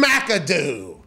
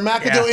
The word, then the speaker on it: McAdoo: uh of way pronounced it's not mick like others would say because it's a vowel